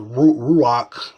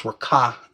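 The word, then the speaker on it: רוח: Because they got a ruach, but it's Rakah.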